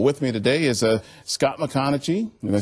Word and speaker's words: MacConachie: Well, with me today is Scott McConaughey. Did I say it right? Yes, sir. McConaughey, who is here from K9 Ponderosa, and he's